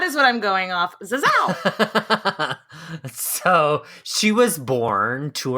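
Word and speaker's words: Zazzau: I did find someone on Twitter that told me, I think phonetically an American would say it like this. So that is what I'm going off. Zazao.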